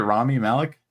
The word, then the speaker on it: Rami Malek: Rami Malek?